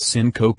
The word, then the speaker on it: syncope: before leaving the room Simca P pronounced syncope II is the medical